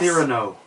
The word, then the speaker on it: Cyrano: Cyrano, for Sorry. you English folks. Thank you. Oh, sorry. You pronounced it in French.